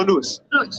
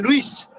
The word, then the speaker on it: Louis: Das heißt, die Aussprache, vielleicht sagt die Spanier Luis.